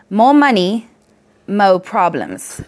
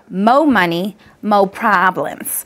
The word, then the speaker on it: Mo Money Mo Problems: you don't mind because more money mo problems we actually have to pronounce it like this Mo Money mo problems I'm sure that's how